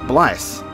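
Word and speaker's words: Blaidd: And it's actually Welsh, and it's pronounced Blythe, and it's Welsh for wolf.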